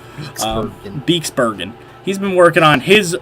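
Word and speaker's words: Beekse Bergen: So, he was working on, obviously, the Bexbergen, I can never pronounce it, Beeksbergen.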